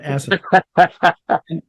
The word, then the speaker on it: asinine: With the key part of that comment of mine on the first syllable of that word, asinine.